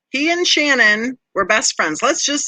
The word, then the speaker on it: Shanann: say that he and shanann are oops i said it wrong he and shannon were best friends let's